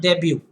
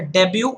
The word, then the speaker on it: debut: First of all, the word debut. This is a debut with a silent T.